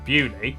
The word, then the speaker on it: Beaulieu: Starting in Biaulio, Bewley, head over to Rampisham, Ransom, then down to Mousehole.